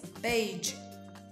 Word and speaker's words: beige: Es beige. Nosotros estamos acostumbrados a decir beige, beige, beige, beige. Pero cuidado, con la pronunciación.